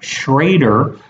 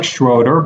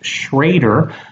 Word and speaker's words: Schroeder: Schroeder I'm sorry Eric shraer it looks like schroer but it's pronounced shraer uh he is back